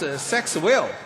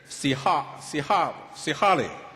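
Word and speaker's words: Sexwale: His name is a little bit difficult for me if pronounced as English. That becomes a sex will. But It is. It was. But however, I was told it should not pronounce that way. It should be Mr. Sihali.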